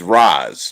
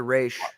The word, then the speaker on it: Ra's: I think it's Roz, not Race. I said Raish. Race. No, it's Look, Raish. The movie mispronounced it. They said Roz in Batman Begins. Yeah, that was not correct. It's Raish.